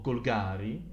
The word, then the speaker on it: Golgari: Questo chiaramente sono Golgari, o Golgari in realtà dovrebbe essere la pronuncia corretta.